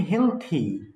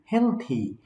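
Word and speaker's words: healthy: আডন্ড আরাই মে হেলথি ওয়েলথি and wise এটা উচ্চারণ হবে হেলথি হেলথি এটা উচ্চারণ হবে ওয়েলথি এটা কিন্তু হেলদি না বা ওয়েলদি না ঠিক আছে তাহলে আলি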